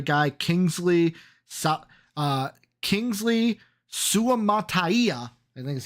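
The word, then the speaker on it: Suamataia: Kingsley so uh Kingsley Su Mata I think is how you say it I think that was perfect Su Mata is how you say that one um out of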